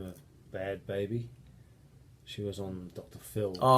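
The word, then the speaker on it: Bhad Bhabie: that chick that goes by the name of Bad Baby? She was on Dr. Phil. Oh yeah, well Bianca. With that Catch Me Outside. Yeah, How about she's got a that? new song out. She- Bad Barbie, isn't it?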